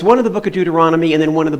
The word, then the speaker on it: Deuteronomy: that's a weird word, Numbers, Deuteronomy, Deuteronomy, five syllables.